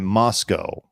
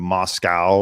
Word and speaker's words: Moscow: Reddit as a Moscow local I guess they pronounce it Moscow right instead of Moscow like you know how Vladimir Putin would pronounce